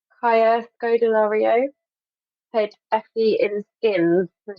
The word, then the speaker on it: Kaya Scodelario: I would cast, pronounce her name correctly, Kaya Scodelario.